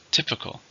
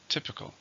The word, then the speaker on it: typical: ordinary it's an adjective how many syllables typical three stress in the first typical especially food is typical